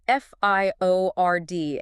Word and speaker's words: fiord: That's f i o r d. And I hear they pronounce it fiord locally.